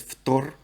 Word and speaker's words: фтор: So with these, they just drop the "ine". So fluorine, well, actually fluorine's a bit different. Fluorine's Ftor. Chlorine becomes chlor. Bromine becomes brom. Iodine becomes yod.